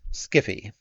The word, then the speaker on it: sci-fi: Hello, sci-fi. That's pronounced Skiffy.